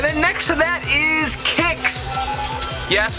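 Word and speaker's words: Qix: next to that is kicks yes I'm calling it kicks with a k um I know when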